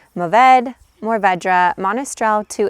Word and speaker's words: Mourvèdre: Mourvedre is pronounced Mourvèdre, Mourvedre, Monastrell to its native Spain, and also Mataro in areas of California.